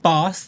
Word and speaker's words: Bawse: It is the shade Bawse Lady, but Boss is spelled B-A-W-S-E.